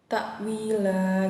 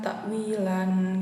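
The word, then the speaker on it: تأويلا: Kemudian ada mad iwad ya, ta'wila. Oke. Kenapa dibaca mad iwad ya? Karena ada fathah tanwin berada di posisi waqaf. Kemudian cara bacanya tanwin itu dihilangkan, jadi hanya dibaca ta'wila gitu ya, bukan ta'wilan gitu.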